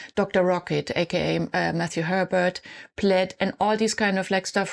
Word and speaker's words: Plaid: I think it's pronounced Plaid. I used to say Plaid when I was younger.